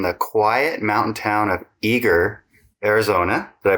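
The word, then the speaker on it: Eagar: Brian Owens, grew up in the quiet mountain town of Eager, Arizona. Did I pronounce that right?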